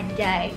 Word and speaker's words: anjay: kata doang guys yaitu a n j a y ayo apa bahasanya kayak SD ya jadi Bacanya adalah Ajay nah jujur sebelum mengenal